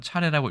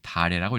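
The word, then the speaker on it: 茶禮: 그래서 차례라고 해야 되는데 만약에 이것을 차차를 쓰면 이거는 차례라고 읽으면 안 되고 표준국어 대사장 기준입니다 반드시 다래라고 읽어야 된다 라는 뉘앙스로 사전에 수록이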